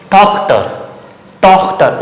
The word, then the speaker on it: Tochter: So ich, Tochter, O, before ch O, Tochter.